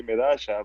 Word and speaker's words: Medalla: controversial but you know in argentina they say midasha but in the rest